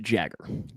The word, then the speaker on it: Jaeger: That is pronounced Jagger.